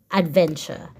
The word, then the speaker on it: adventure: DV a n CH remember the t u r e together makes the CH sound CH a CH so a DV e n Adventure okay and then we